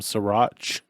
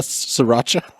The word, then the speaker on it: Sriracha: that boy I'm going to add some srir srir mhm yeah is that one syllable L Sriracha yeah that's that's the cool Street way to